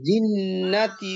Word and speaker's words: الجنة: الناس من الجنة والناس জিন্নাতে হবে না, জিন্নাতি।